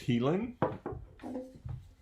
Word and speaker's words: Hielan': of scotch per year this is the heal pronounced healing pronounced teeth i'll go over here pronounced helium